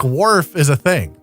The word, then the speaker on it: Worf: spell when we're putting worf into the uh podcrawl machine that spits out the hot lady voice can we just spell it like you spell a wharf so it sounds right instead of worf that's uh that's apparently